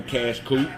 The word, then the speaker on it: Qash Qoop: It's spelled Q A S H Q O O P. That's cash cute with a Q.